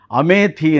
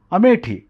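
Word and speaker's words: अमेठी: ಆ ಪತ್ರಿಕೆಗಳಲ್ಲಿ ಅಂಕಣಗಳಲ್ಲಿ ಬರಹಗಳಲ್ಲಿ ಅಮೆಥಿ ಅನ್ನೋ ಪದ ಬಳಸ್ತೀವಿ ನಾವು ಉತ್ತರಪ್ರದೇಶದ ಒಂದು ಪಾರ್ಲಿಮೆಂಟರಿ ಕ್ಷೇತ್ರ ಅಲ್ಲಿ ಹಿಂದೆ ಸಂಜಯ್ ಗಾಂಧಿ ನಿಲ್ತಾ ಇದ್ರು ಆಮೇಲೆ ಎಲ್ಲಾ ಬೇರೆಯವರು ನಿಲ್ತಾ ಇದ್ರು ಅದರ ಮೂಲ ಉಚ್ಚಾರಣೆ ಏನು ಅಮೇಟಿ ಇದು ನಮಗೆ ಗೊತ್ತೇ ಇಲ್ಲ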